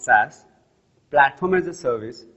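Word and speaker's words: SaaS: three main cloud segments software as a service pronounced sas platform as a service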